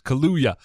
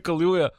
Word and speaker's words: Kaluuya: I am going to say it wrong always. Kaluuya.